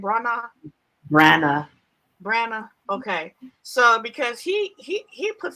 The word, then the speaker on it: Branagh: Because now Kenneth Branagh, how do you pronounce his last name? Branagh.